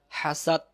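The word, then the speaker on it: حسد: এক আলিফ, হাসাদ, হাসাদ, হাসাদ, হাসাদ যেন না হয় শেষে দ দিয়ে উচ্চারণটা মুখে নিয়ে আসবেন, হাসাদ।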